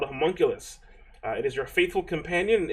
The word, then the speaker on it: homunculus: For all the wizards out there that wanted to have a homunculus, you can do that now.